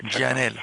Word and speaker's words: Gianella: ¿Usted lo pronuncia Gianella? Sí, exactamente así. Gianella.